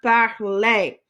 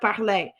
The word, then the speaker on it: parlais: So we've got je parlais, je parlais. So all of these, I can write out what these sound like too. All of these sound like A.